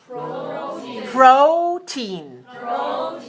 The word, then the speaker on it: protein: okay let me help you with this word protein protein two syllables stress the first how much protein does